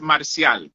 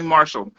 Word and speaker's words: Marcial: My name is Marcial. But in English, I like it to be pronounced Marcial, right? So I Anglicanize it, Marcial. I hated Marshall until I realized, you know what? I'm not going to stress it. It's okay. You can call me Marshall.